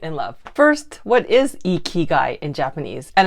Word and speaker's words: ikigai: live in light and love first what is e key guy in Japanese and it's pronounced e key guy I know I Googled it first but what